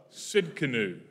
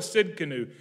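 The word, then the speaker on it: Tsidkenu: spell it right because it starts with a silent t you know why they do that i don't know the t is useless but it's there so it is capital t s i d k e n u t s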